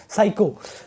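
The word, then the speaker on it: psycho: साइको साइको होता है बेटा, पी साइलेंट रहता है इस पे।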